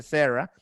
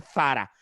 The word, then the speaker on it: Zara: dice Sara, se dice Sarah, que estaba súper mal pronunciado porque la marca es española y se pronuncia Zara, si nos fuésemos a tratar de pronunciarlo bien con la Z española.